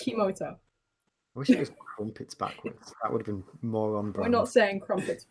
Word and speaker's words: Kimota: Kimota, it's atomic backwards. Yes, that's what it was. It was atomic backwards. It was so... It's literally atomic backwards. I wish but it was spelled with a K, backwards. So it's Kimota.